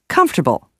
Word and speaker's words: comfortable: second you in usually the word comfortable not only loses the O but some of the letters are rearranged when the word is pronounced in relaxed speech comfortable often sounds like comfortable let's try some of